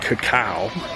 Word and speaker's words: cacao: The word is pronounced cacao, which we were doing incorrectly before.